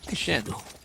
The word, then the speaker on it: Chien: That you're saying it like properly. Chien. Like in a French way. Well, it's Chien, isn't it?